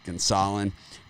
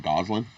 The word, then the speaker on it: Gonsolin: I think Gonzalez, however you pronounce it, Tony T pronounces it Gonsolin, right? So it's like, I know that's not right? It's Gonsolin, but so it's always gets me a little confused back and forth, right?